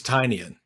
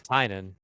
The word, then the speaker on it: Tynion: Tiny onion so I believe his name is tinan tin ten it's tinan I promis it's tinan because I looked it up before this podcast